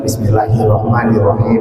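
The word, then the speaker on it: بِسْمِ اللَّهِ الرَّحْمَٰنِ الرَّحِيمِ: Bismillahirrahmanirrahim. Nah, ini sama mirro ditekan tidak nir niro tapi nirro.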